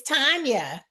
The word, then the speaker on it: Tanya: So I want to find out, is it pronounced Tanya or Tanya? It's Tanya.